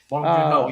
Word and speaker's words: Bong Joon-ho: Bong Joon-ho? Yep. Is that how you pronounce that? Bong Joon-ho, yep.